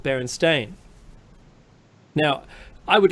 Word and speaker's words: Berenstain: I mean, Mekki said this last week, and there's no alternate pronunciation for Berenstain. It's Berenstain.